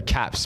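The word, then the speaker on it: Capz: Let's just put them out there, but that's their Cap Z. I should say Caps, but it's spelt with a Z.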